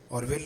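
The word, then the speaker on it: Orville: Right, چھوٹے کا نام آرول رائٹ، اور آرول بھی کہتے ہیں اور اورول بھی کہتے ہیں، دونوں طرح کے اس کا تلفظ ہے۔ بڑا 1867 اور چھوٹا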